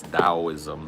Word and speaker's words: Taoism: Taoism or Taoism. It's Taoism is how it's pronounced, but either spelling is fine.